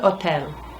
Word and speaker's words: hotel: El hotel. So easy. Just don't say the h.